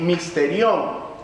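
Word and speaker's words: μυστήριον: Misterio viene de una palabra griega que se pronuncia más o menos así, misterión.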